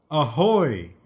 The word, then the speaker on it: Ahoy!: It was called Ahoy, and I say it like that because there's an exclamation point. See the exclamation? Ahoy! Ahoy!